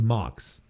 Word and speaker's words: Mox: Pox rhymes with Mox.